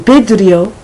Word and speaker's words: vidrio: And vidrio, even though it's written with a V, it sounds as if it is written with a B.